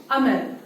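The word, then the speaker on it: Hamel: If you look at para 1, his name is Monsieur Amal. The H is silent.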